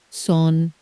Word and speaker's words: sont: 4 letters on paper, 1 nasal syllable out loud. The silent letters send their regards.